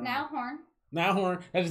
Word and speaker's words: Niall Horan: Niall Horan.